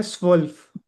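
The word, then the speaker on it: zwölf: के लिए है स्वफल्फ एस एस की एस की आवाज स्वफ नहीं जेड को हमने एस की आवाज के साथ पढ़ना है। स्वफल्फ स्वफ स्व्ल्फ जैसे वुल्फ नहीं होता स्वफल्फ वुल्फ स्वफ ओके अच्छा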